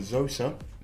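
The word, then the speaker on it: Zoza: We're smoking on Zosa. Z, as you Americans say, but it's Z over here. Z-O-Z-A, Z-O-Z-A, Zosa.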